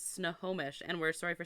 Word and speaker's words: Snohomish: to the haunted Saloon and have pie it's Snohomish and we're sorry for saying your name wrong yeah all of the town my pronouns